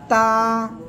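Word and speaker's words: تاء: জিহ্বার আগা সামনের উপরে দুই দাঁতের গোড়ার সঙ্গে লাগাবেন, লাগিয়ে এক আলিফ টেনে উচ্চারণ করবেন।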